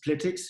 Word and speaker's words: Plytix: I'm just gonna share my screen, and while I do that, I'll just correct Nicolaj for pronouncing our name wrong. It's Plytix, short for Product Analytics.